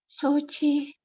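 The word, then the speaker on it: 承知: Shochi. Shochi desu ne, panjang ya.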